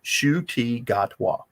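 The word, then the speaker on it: Ncuti Gatwa: You mean Shudigatwa? Is that the one? Yeah, that guy. Yeah. Hey, I had to learn how to say his name. It is not the way it is spelled.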